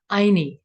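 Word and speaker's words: Ayni: Anyi is what the pronunciation is.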